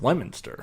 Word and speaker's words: Leominster: Or Leominster, Yep. pronounced Lemonster. Yeah. Leominster, Mass.